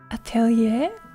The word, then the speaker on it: atelier: And the R is silent. Attelier. Atelier.